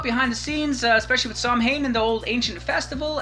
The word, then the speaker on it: Samhain: So Samhain is the phonetic pronunciation of the name. It's actually pronounced Samhain, so there's a difference right there.